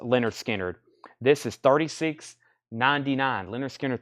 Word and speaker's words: Lynyrd Skynyrd: limited edition red vinyl Leonard Skynyrd pronounced Leonard Skynyrd this is 36.99 Lynyrd